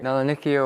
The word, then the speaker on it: Melanonychia: Those dark streaks, I believe they are pronounced melanonica. How do you pronounce it, doctor? Melanonychia or melanocytic streak.